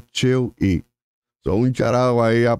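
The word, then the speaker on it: Chill-E: va a molestar pero técnicamente la manera real de pronunciarlo es Pablo cheu son un Charo ahí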